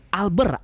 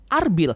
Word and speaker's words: Alber: Nama Alber bisa juga diucapkan sebagai Alber atau Arbil dalam bahasa Jepang, dan Erbil adalah sebuah kota Sumeria kuno di Mesopotamia.